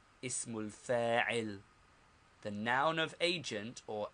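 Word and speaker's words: اسم الفاعل: First, the noun of agent or active participle, pronounced ismul fa'il, ismul fa'il. The noun of agent or active participle, ismul fa'il.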